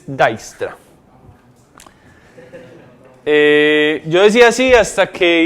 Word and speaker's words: Dijkstra: Uno dice así, pero se dice Dijkstra.